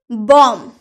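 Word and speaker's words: bomb: B silent letter, M के बाद या टी के पूर्व, क्या मैंने बोला, एम के बाद या फिर टी के पहले, पूर्व यानी कि पहले बी आए तो बी प्राय साइलेंट रहता है। जैसे कि बॉम्ब, यहाँ पर एम के बाद बी है ना, हम लोग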